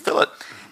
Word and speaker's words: fillet: chamfer and and and fill it and things like that and these are kind it's not fully it's not fillet right the same way we